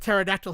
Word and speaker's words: pterodactyl: Like it's not impressive that I know that pterodactyl has a silent P at the beginning.